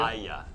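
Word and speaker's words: Hagia: Aya. It's like a Y sound. It's like Instead of a just G. almost pretend the H isn't there. Aya. But then the G is a Y sound. Aya.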